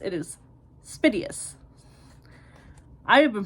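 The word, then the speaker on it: Spiteos: where to find them they're on I've been pronouncing this wrong they're on uh spitus so it's not spios or spos it is spitus I have been pronouncing that wrong this whole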